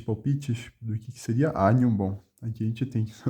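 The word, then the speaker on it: agnum: O GN, desculpe, tem som de NH. Agnom. Bom, aqui ele sugere, né? Maria tinha qual que é a tradução, né? 3 palpites do que seria agnom.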